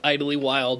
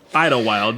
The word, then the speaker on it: Idlewild: So, what we did is we went up and we went to Idlewild, which apparently it's not pronounced Idly Wild, which is a really cool way to say the town's name. Idlewild.